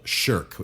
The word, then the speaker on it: shirk: is a sin called shirk. That's spelled the way we would say shirk responsibility, S-H-I-R-K.